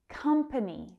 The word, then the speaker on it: company: Company. That stress is on the first syllable.